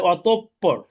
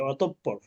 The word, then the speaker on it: অতঃপর: ফা ফা অতঃপর এই বাংলা এটা কিন্তু উচ্চারণ হবে অতঃপর, স্বরে অ তয়কারে তো প প র, অতঃপর। এই বিসর্গের কারণে পটা দুইবার উচ্চারণ হবে অতঃপর।